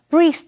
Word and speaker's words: breath: Charles 因为工作的关系，得在旧金山、洛杉矶两边跑。接下来我们看的是 breathe 这个动词 breathe 是指呼吸，注意 EA 在这里是发长音的 E 念成 breathe。例如 It's so stuffy in here that